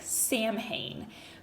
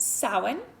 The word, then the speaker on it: Samhain: Now, when you see this written out, it's Samhain, so it looks like Samhain, but it's pronounced Samhain, and it's very similar